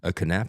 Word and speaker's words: Knapp: But people would try and say Knapp. I'm like, do you say knife? Like, no, Right. Oh, really? How do you pronounce this? nap.